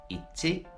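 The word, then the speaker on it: 一: It's pronounced in Mandarin, in Japanese, ichi.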